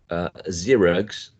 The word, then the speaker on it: Xerox: In science, Sue, sing, and a voiced sound, which is z, as in zip, zoo, Xerox.